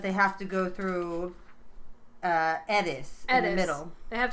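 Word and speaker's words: Eddis: And what they discuss along the way is a lot of the mythology of Edis, or Edis, as the locals pronounce it.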